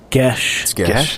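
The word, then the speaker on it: geas: and thrall GEOS glibness gesh gesh is how that's pronounced oh wow okay glibness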